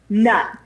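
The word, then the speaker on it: Knut: And one of the forms of currency they have is a nut, and it's spelled K-N-U-T, nut.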